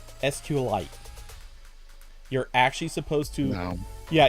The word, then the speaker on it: SQLite: supposed to be pronounced sqlite you're actually supposed to yeah you're actually supposed to smash together sql and light it's supposed to be sqlite i'm i wish i